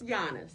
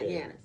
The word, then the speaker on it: Giannis: Take the J off. Put a Y there. Yanis, right? But don't say that. It's not Yanis. It's Giannis. It's Giannis. So think of Yonis. Giannis. Giannis. Phonetically, that's what it is.